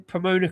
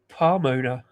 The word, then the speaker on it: Pomona: Um at least you're pronouncing Pomona correctly. We got a lot of people say Palmona.